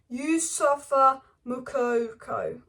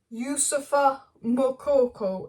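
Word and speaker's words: Youssoufa Moukoko: for Borussia Dortmund sensation you suffer mukoko isn't home I thought that you suffer mokoko is apparently the correct pronunciation but I do apologize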